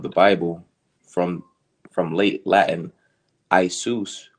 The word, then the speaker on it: Iesus: Late, it is the Greek form of Joshua, used variously in translations of the Bible from late Latin Isus, properly pronounced as three syllables, from Greek Iesus, which is an attempt to render into Greek the Aramaic.